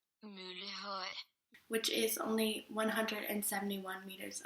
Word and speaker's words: Møllehøj: The highest point is Møllehøj, which is pronounced Møllehøj, which is only 171 meters above sea level.